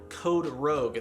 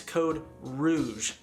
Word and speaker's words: Code Rouge: in the comments was it is not code rogue the canadian code red it's code rouge which literally just translates